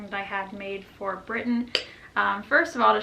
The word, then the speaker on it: Britton: britton riley b-r-i-t-t-o-n riley pronounced britain as in great britain because she's pretty great